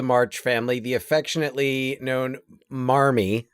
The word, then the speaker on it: Marmee: There was no formal spelling, but in New England, where they probably pronounced it mommy. Yeah. Mommy. Alcott, I think, assumed that there was an R in there. And I mean, this doesn't seem like it was a big mystery, but it seems like that's just kind of been a decision to pronounce it as Marmee in all of the many versions.